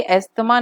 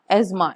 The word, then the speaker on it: asthma: ठीक है, ये एस्थमा नहीं पढ़ते हम लोग, आपने नोटिस किया होगा, एज्मा, इट्स प्रोनाउंस्ड एज एज्मा।